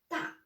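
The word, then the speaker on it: 大: Ta, ta, d'accord?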